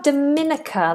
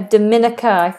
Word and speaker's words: Dominica: And then we have Dominica. Let me double check the pronunciation of this. I didn't know there was a a Dominica.